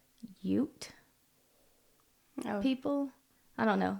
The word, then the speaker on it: Ute: So It was, I think it's Ute Oh. people. I don't know. Ute. It's Ute.